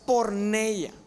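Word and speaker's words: πορνεία: La palabra se pronuncia porneia.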